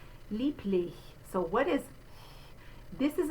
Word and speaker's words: lieblich: remind you that even though you have a B spelling, it looks like lieb, it's lieb. We're going to say that B like a P. Lich is the second syllable. You can see a capital I in the phonetic symbol there. That is the vowel sound I, like in our word is.